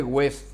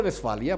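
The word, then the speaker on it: Westfalia: No se dice West, se dice West. En alemán la W se lee como B corta. los tratados de Besfalia, porque es una ciudad,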